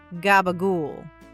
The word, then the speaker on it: capicola: Number six, capicola, or as a certain television crime family famously pronounced it, gabagool.